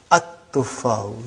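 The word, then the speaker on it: التفاح: But now your mind knows that that is a sun letter, so you will pronounce as at-tuffahu. You will put a shadda anta.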